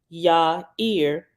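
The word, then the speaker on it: Yaiyr: at the bottom says the Hebrew word yair y-a-i-y-r pronounce Ya Ear means enlightener and is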